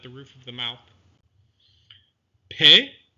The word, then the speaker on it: Pe: Pe is pronounced with the dagesh, p, or without the dagesh, f, similar to the English ph, so that should be easy to remember.